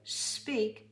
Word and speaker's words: speak: They can speak Spanish. The school children are standing still. The S does not have an E in front of it. So you start with the snake sound, Spanish, speak.